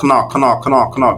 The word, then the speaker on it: Knorr: It's just that someone is saying knorr because that's the right pronunciation.